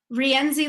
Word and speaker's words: Rienzi: RIENZI, like the pasta.